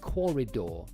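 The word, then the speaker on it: Quoridor: been Googling uh it's called Corridor and that's spelled with a with a Q and A U coridor all right and what they've made is a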